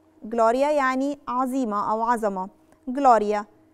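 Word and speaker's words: gloria: يعني لو عندي جي ال ما بين حرف ساكن وحرف متحرك او في بداية الكلمة، ساعتها بنطق حرف الجي.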